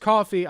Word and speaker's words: Ko-fi: If it's pronounced coffee, I'm still saying Ko-Fi. Rejecting beliefs associated. I'm not saying, oh, buy me a coffee. You want to buy me a coffee on coffee? Isn't that cute? Isn't that a cute little... No, it's Ko-Fi. It's spelled like Wi-Fi, so I'm calling it Ko-Fi.